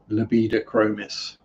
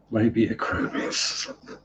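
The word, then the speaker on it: Labidochromis: And that's another one I have to be careful how I pronounce. Libidachromis. Because I got it wrong once and called them Labiachromis.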